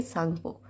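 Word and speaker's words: Tsangpo: सांगपो लिखा हुआ है सांगपो पर टी ए साइलेंट ठीक है इसको हम बोलेंगे सांगपो यह सांगपो एक्चुअली ब्रह्मपुत्र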